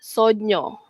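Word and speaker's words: sogno: Sonyo bunyinya sono. Sonyo is dream or mimpi. Ok. If you dreamt about something you call that Sonyo.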